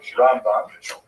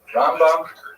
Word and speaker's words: Rambam: Rambam is pronounced with the emphasis on the first syllable. Rambam and Ramban is pronounced with the emphasis on the second syllable. Rambam and Ramban.